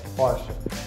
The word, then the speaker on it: Porsche: You wouldn't really put emphasis on that R sound, so you would go Porsche. Porsche. Almost like in Turkish, the pocha.